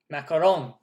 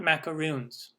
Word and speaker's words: macarons: big fan of cvha macarons not macaroons do not pronounce them macaroons they are not macaroons okay macaroons are something different macaroons are coconut macaroons and they're made with